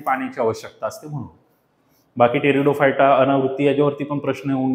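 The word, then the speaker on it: Pteridophyta: ब्रायो आणि टेरीडो तर टेरिडोफायटा टेडोफायटाची spelling लिहित असताना पी वापरतात ते बघा इथ दिसते उच्चार मध्ये तर हा जो मी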